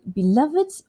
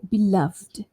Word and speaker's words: beloved: Right, so for this one, this is a special word because it doesn't end with a d or a t, beloved, right, v there. But for this one, you can say beloved or beloved.